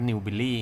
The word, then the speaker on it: Newbiely: ตัว นี้ นะ ครับ อ่าน ว่า New Billy นะ ครับ นะ ครับ